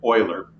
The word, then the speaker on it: Euler: so I slaughter it Americans tend to pronounce this word boiler I'm sure the French don't pronounce it anything like this and when they hear this word pronounced Euler they cringe but I don't speak French and I don't know any better so Americans who don't speak French pronounce if oiler hey it's what we